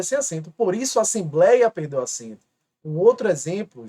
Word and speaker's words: assembleia: A palavra assembleia. Observe e preste atenção. Assembleia. Aqui é a sílaba mais forte.